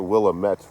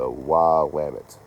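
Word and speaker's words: Willamette: Uh, yes, it is not the Willamett River cuz that's how it's spelled. That would make too much sense. It's the Wamut if I remember correctly.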